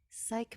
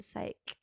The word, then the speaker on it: Psyche: Psyche? Psych. There's an Psych. E. there's an E. Psyche. But why is it spelled like that? Science. Psych E. It's just like E. There's not like I-E, E-Y, E-E. It's just E.